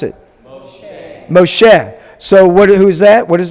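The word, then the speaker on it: משה: How do we pronounce it? Moshe.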